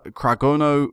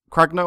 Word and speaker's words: Cragno: we signed was alessio cragno Craig Craig no i believe it's pronounced 29 years of age